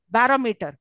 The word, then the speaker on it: barometer: yes okay now next barometer bar Meer here also four syllables now tell me which syllable is uh stressed third very the third one please count it from